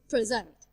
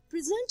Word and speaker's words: present: We usually stress the second syllable if the word is verb. Example, present, present.